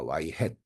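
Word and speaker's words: y-hat: 기대값을 예측을 하면요 자 여기 이제 y has이라고 읽습니다 y has 자 여기 이제 모자를 모자를 이제 쓴 것처럼 표기가 되어 있기 때문에 자 y has이라고 해 있습니다 자 수정된 회의식순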